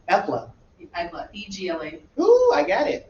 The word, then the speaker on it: Egla: Ella? Egla. Epla. Egla.